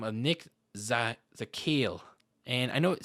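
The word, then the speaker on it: Zakelj: offensive tackle by the name of nick za zakale and i know it says cicage a killage but it's actually pronounced the kale i don't know why there's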